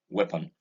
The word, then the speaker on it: weapon: This is weapon and not weapon. I've heard a number of people say weapon, pronouncing the EA as E. No, this is a weapon.